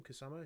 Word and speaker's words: Kusama: That's how you say her name, Kusama.